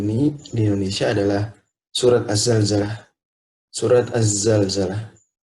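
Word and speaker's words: الزلزلة: di Indonesia adalah surat Az-Zalzalah. Surat Az-Zalzalah. Penting diingat bahwa banyak yang membacanya surat Al-Zalzalah dan ini kurang tepat sebenarnya. Ini kurang tepat karena zai huruf alif lam syamsiyah hingga dia Az-Zalzalah.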